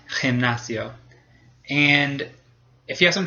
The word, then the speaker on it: gimnasio: And if it comes before an E or an I, then it says J, like gimnasio.